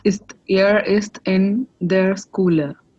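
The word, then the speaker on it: Schüler: air is in there schooler Schuler cooler yeah SCH togethers pronounces sure so air East in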